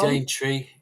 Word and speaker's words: Daintree: Daintree. How do you spell that, just for people?